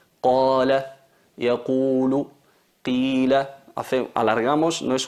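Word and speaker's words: قال: Qala, es como se dice qa.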